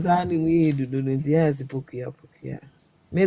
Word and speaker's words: Pokua: A word way poku and I say pokua. Poku and I say pokua. POKUA. How do you pronounce?